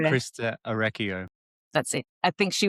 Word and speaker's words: Christa Orecchio: I think maybe Christina, I never can say her name, Christina Ore. Krista Orecchio.